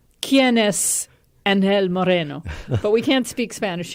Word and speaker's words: Angel Moreno: It's always fun, I think, but today I have a wonderful guest with me, Angel Moreno, although some may pronounce it Angel Moreno, Yes. because Angel comes from Spain.